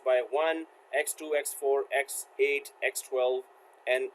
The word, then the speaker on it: x1: There are 7 different link weights supported by PCIe, designated X1 pronounced by 1, X2, X4, X8, X12, and X32, with X1, X4, and X16 being the most common.